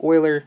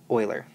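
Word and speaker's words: Euler: you remember the name Oiler even though it's spelled weird it is pronounced Oiler so next we're going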